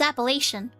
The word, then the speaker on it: Appalachian: huh yeah palatian mountains Appalachian or apple Appalachian I'm pretty sure it's appellation I'm cute thank you